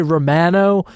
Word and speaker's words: Romano: Yes, I am gonna say Romano, the Canadian pronunciation, because it's the correct way to say it.